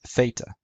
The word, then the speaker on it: theta: Theta. In classical Greek, it was pronounced theta. In Koine Greek, it was pronounced theta. In modern Greek, it's pronounced theta. Now, just like the letters